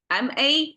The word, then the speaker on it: 麻: ma a um but we pronounce as a rising tone M and originally it's